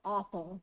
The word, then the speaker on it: Appel: You probably recognize the name Apel, or Appel is the German pronunciation, founding farmers in this area.